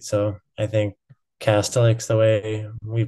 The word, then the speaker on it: Kastelic: And my co-host swears that he pronounced it Kastelic, and that you're pronouncing it differently.